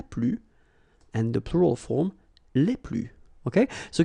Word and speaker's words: les plus: and the plural form, les plus. Okay, so keep in mind that I don't pronounce this final S here, so we get le plus, la plus, les plus.